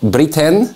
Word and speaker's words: Brithén: Brithén, it's correct?